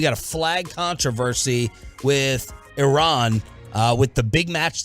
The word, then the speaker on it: Iran: the Iranian people but you're pronouncing our country's name wrong our country is named Iran not Iran please one once and for